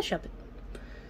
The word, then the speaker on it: Shuppet: Am I saying his name wrong? Is that not a Shuppet? No, it's a Shuppet.